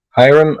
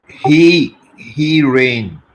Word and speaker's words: Hiram: No, Hiram, or I was told that is not how it's pronounced. How do you say your name? He ran.